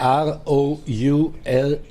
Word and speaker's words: Rouladen: Oh, help me pronounce that. R-O-U-L-A-D-E-N.